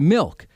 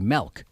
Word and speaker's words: Milk: fellow San Francisco Supervisor Harvey Milk, or as my wife and Ashley would pronounce it, Harvey Melk.